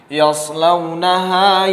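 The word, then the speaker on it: يَصْلَوْنَهَا: Yaslawnaha yawmaddin. Yas sad sukun, yas bukan sin, yas bukan yaslau, bukan sin, bukan yash, tetapi yas sad. Yas pengucapannya sad, kemudian sin itu berbeda, yas berbeda dengan yas.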